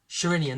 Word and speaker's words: Sherinian: Sherinian, that's right.